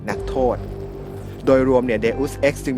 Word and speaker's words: Deus Ex: กัน ก่อน เลย ครับ มัน อ่าน ว่า deus x นะ ครับ เดอส เนี่ย เป็น ลาติน แปล ว่า เทพเจ้า ครับ X ตัว นี้ นี่ หมาย ความ ว่า ออก มา จาก อย่าง My ex girlfriend แฟน เก่า xc อดีต